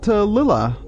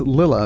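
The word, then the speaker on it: Lilla: I found a pronunciation of it online, and it was Leela. Oh, wow. Is how they pronounced it.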